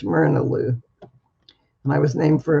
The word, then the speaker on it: Myrna Lou: it's all one word it looks like mary lou but it's mirnaloo and i was named